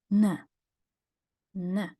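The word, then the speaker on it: н: trick and that's how the English n turns into the Russian nah as in never here's a useful Russian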